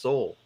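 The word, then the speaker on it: Sahul: australia was originally uh s-a-h-u-l pronounced seoul so there's that interesting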